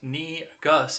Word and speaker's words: negus: uh Yama fago says negus pronounced knee Gus is the Ethiopian Ethiopian work for King I believe I didn't